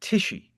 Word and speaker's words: Tichi: So, first I'll introduce um and I and we'll talk a little bit about your last name because I'm intrigued about its pronunciation. Uh Cecilia Tishi. That's it.